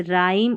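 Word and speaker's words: rhyme: तो यहाँ पर है रूल नंबर 12 साइलेंट H इन RH, जैसे RH स्टार्टिंग में रहता है तो यहाँ पर H साइलेंट रहता है, जैसे राइम और रिदम पढ़ते हैं इसको, ठीक है, राइम और रिदम।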